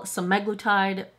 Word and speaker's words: semaglutide: the other way, and in my brain, I should have the emphasis on the first syllable, and apparently it's supposed to be the second syllable, semaglutide.